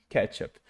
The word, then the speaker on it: ketchup: Ou seja, colocando a parte forte no que, no comecinho, ketchup.